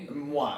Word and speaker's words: Moi: Moi, and it means like me. I.